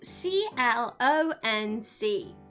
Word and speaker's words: CLONC: Clunk? I don't even know how to say it because I don't remember ever pronouncing it out loud. But it's CLONC.